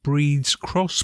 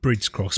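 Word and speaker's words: Bríd's Cross: b r i DS Bridge cross but pronounced breeds that's right it has a has a father and an Irish accent over the letter i which elongates the sound and hence hence breeds yeah and I guess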